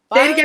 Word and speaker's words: Filan: Filan, like you're filing your nails.